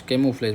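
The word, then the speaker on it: camouflage: camo उफ्लेज ठीक है सी ए एम O camo हो गया उफ हो गया और लेज केमोफ्लेज बोलते हैं उसको ठीक है जिसको पहचान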